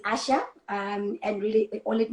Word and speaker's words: Asya: question all the time it's asia it's asha i know it's spelt as asia which is asya but when you say it there is an age that they that's not part of the spelling that you have to pronounce so it's asha um it is hebrew